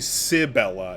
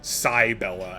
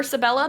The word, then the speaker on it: Cybella: wait this is oh I keep saying sibella it is it it is Sai Bella as defined in the in the document it's okay if you prefer Sabella that's fine too no I I want